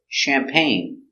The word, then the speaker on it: champagne: mustache very good example champagne soft sound the short a sound champagne so we see the g is silent pain together champagne accent goes up at the end champagne do you drink